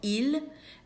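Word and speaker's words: ils: It's il l and it sounds exactly the same as their singular version.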